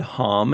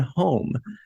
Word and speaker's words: Homn: name, is because it's been said both ways. It's been said Hom and home.